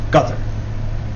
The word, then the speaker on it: Qatar: And uh me and another friend of mine couldn't seem to figure out how to pronounceqatar and he told us that it's gut.